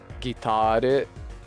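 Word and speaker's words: ギター: You think the Japanese loanword isn't as strongly stressed on the second syllable, assuming the lyrics are the same in Japanese? If it's a loanword, then wouldn't the Japanese word be 3 syllables?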